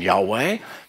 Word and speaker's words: Yahweh: And sometimes it's pronounced with a W, as in Yahweh.